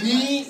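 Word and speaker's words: knee: Et en anglais, genou, on dit ni, mais ça s'écrit K-N-E-E, c'est-à-dire, et ça c'est vraiment Philippe, c'est King, Noble, Expressive and Excellent.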